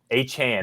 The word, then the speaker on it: Achane: So first of all, this is a podcast that pronounces names right. And Brian, it's Achane and not Achane. H-Chan.